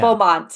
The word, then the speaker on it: Beaumont: gets talked about enough, and that is Andrea Beaumont, I think that's how you say Beaumont. her last name. Yeah. Beaumont, yes, that's how you say her name.